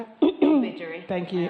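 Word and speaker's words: Ilbijerri: Ilbijiri. Thank you, Ilbijiri. It's all about where you accent it.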